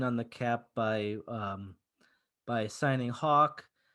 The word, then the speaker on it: Haack: It says pronounced Hawk. Yes, it is Matt pronounced Hawk, but I'm really proud of my tweet where I said that I'm gonna call him Hack until he earns Hawk, because Hawk nails punts